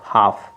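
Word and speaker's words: half: है तो एल आपका साइलेंट जब एल आपका साइलेंट है इसको पढ़ेंगे एच ए एफ हाफ क्या हो जाएगा एच हाफ एल तो साइलेंट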